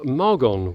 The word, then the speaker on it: Margon: Back in the south of France in the Languedoc-Roussillon or Occitanie region, and today we are in the beautiful village of Margon, which is spelled M-A-R-G-O-N.